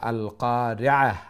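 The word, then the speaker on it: القارعة: ওদিকে খেয়াল রাখতাম আমরা আল কারিআহ আইনটা মিডল অফ দ্য থ্রোট গলার মধ্যখান্তনে আইন উচ্চারণ হইব আল কারিআতু মাল কারিআহ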